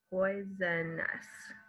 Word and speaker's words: poisonous: So even though there are 1, 2, 3, 4, 5 vowels in this word, there are only 3 vowel sounds. So there are 3 syllables. Poisonous.